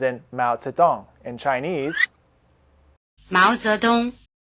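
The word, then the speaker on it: 毛泽东: Hào, Hào, Hào The diphthong "ao" is spelled AO as in "Mao Zedong", in Chinese: Máo Zédōng, Máo Zédōng Try repeating.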